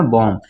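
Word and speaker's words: bomb: है ना ये है आपका बम भी नहीं पढ़ेंगे ठीक है ना बम ये है कलाएं भी नहीं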